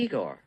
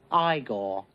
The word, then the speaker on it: Igor: You must be Igor. No, it's pronounced Igor. But they told me it was Igor. Well, they were wrong then, weren't they?